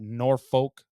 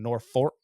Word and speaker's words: Norfork: 5th you're in Mountain Home Arkansas saw at Norfolk Lake believe I pronounced that wrong nor fork Norfork you have to excuse me here because